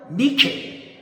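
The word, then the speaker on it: νίκη: 영어로 나이키. 그리스말로 니케.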